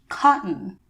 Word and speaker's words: cotton: middle of words and it's actually called the glottal stop but it's not important to know the name of it right now as much as it is important to know how to pronounce it and when to pronounce it so let's look at the example of the word I used in my presentation cotton this sound is produced when you close off air from coming out of your throat and your